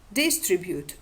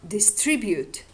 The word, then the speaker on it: distribute: diachronical recessive tendency or the stress on the second syllable under the influence of the strong rhythmical tendency of the present day. For example, hospitable or hospitable, distribute or distribute, aristocrat or aristocrat.